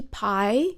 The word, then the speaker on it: Pi: So 14 La Tempérance is, in my view, what Givenchy Pie used to be, or P, depending how you pronounce the sacred number.